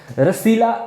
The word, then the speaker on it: रासलीला: रसीला, रसीलिया जो है, या रसलीला भी इसको आप कहते हो, या रास लीला भी इसको कहते हैं गाइस। तो अलग अलग प्रोनाउंसिएशन इसकी बनती है, अगर आप गूगल में डालोगे वो कुछ और ही बोलेगा, है ना। तो इसको हम रासलीला कहेंगे, ठीक है।